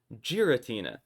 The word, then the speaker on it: Giratina: They took a word from another language and put it into Japanese where it would make that kind of hard G sound. But I also think it's wrong. Hot take. I think it's actually giratina and I'm going to prove it.